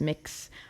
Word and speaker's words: Mx: Mr., Ms., Miss, Mix, all of those honorifics. Mix is a gender-neutral honorific you can use in English. Did you know? Now you know. It's spelled MX. It's pronounced like mix, like you're mixing up